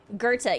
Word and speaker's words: Gerta: know this is pronounced this is not pronounced as it looks it's pronounced something like a different way um of what is is that how it's pronounced speech modification. comom presents how to pronounce Gerta G Gerta I think it's Gerta Gerta yep